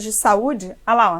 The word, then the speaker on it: saúde: Quando eu digo saúde, o U está sozinho na sílaba tônica. Ele forma hiato com vogal da sílaba anterior? Forma. Por isso, essa palavra é acentuada.